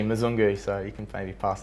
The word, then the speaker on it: Mzungu: Yeah, he's had a tough time with Big Bryza, but yeah, it's actually Mzungu, so you can maybe pass that on to him.